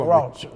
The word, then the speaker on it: Cheraw: That's why I wanted you to pronounce it for me. Cheraw.